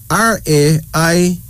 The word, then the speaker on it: Raimi: R-A-I-M-I, pronounced Raimi.